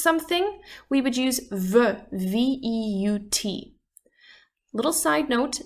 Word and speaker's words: veut: we would use veut, V-E-U-T. Little side note, these 3, V-E-U-X, V-E-U-X, and V-E-U-T, even though there's some slight difference in the spelling, they're actually pronounced the exact same way, just veut.